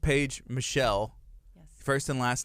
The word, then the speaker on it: Michel: the michelle family who it's the french pronunciation it's a very common french surname cool and so yeah